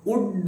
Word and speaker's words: would: ಈಗ ಈ ವುಡ್ ಅನ್ನು ಉಚ್ಚಾರ ಮಾಡುವುದು ಹೇಗಂದ್ರೆ WOOD ವುಡ್ ಉಂಟಲ್ಲ, ಅದರ ಹಾಗೆ ವುಡ್ ಅಂದ್ರೆ ಕಟ್ಟಿಗೆ. ಆ ವುಡ್ ಅನ್ನು ಹೇಗೆ ಉಚ್ಚಾರ ಮಾಡ್ತೀರೋ ಹಾಗೆಯೇ ಇದನ್ನು ಉಚ್ಚಾರ ಮಾಡಬೇಕು. ಇಲ್ಲಿ ಎಲ್ ಅಕ್ಷರವನ್ನು ಉಚ್ಚಾರ ಮಾಡುವುದಿಲ್ಲ, ಅದು ಸೈಲೆಂಟ್. ಸರಿನಾ?